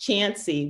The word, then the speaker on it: Chauncey: And the narrator says Chance, but it's spelled C-H-U-N-C-E-Y. And the girl in the story says, but Chauncey, pronounced Chancy, wasn't always the place it was.